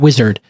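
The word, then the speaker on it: Uizard: do that so let me tell you about wizard it's spelled UI aard D it's an AI powered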